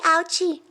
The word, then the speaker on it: Ouchy: lee raises his hand your name rhymes with grouchy grouchy ouchie are you a grouchy